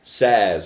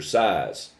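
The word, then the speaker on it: SaaS: software as a service says or size right infrastructure platform and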